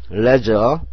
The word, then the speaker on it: leisure: leisure, L은 real, E는 에, I는 소리가 안 나는 거네요. 이거 다음 장에 배우는 건데 묵음인데요. 소리가 안 나니까 X를 치세요. 그 다음에 SURE는 지읒 해도 되지만 SURE를 저로 해가지고 leisure가 됩니다.